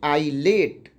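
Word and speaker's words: islet: दूसरा देखिए आई और एल के बीच में एस है तो इसको क्या पढ़ेंगे, आईलेट।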